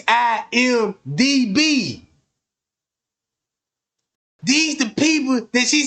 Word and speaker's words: IMDb: She didn't pronounce it right. You see what I'm saying? She said IBM. And she said it all wrong. It's IMDB.